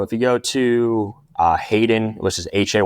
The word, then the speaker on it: Hayden: you go to uh Hayden which is ha y DN uh every time I pronounce that people drop off the H but yeah Hayden